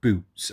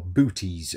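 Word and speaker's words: Boötes: Right folks, this time of year, midJune, if you're watching this, midJune, uh you want to identify the constellation Boots or Booties, however you want to pronounce it.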